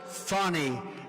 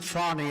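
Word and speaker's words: Fani: it's it's actually pronounced fonny it's fa and I bet you pronounce it fonnie a little French accent there fonnie but that's a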